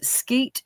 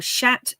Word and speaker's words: sceatt: Really nice skeet or shat, as we should say. They are called shats. The SCEATT is pronounced shat.